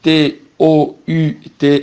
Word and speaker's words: tous: Et tout avec S, c'est le masculin pluriel et on dit tout, on ne prononce pas le S, sauf si tout est pronom.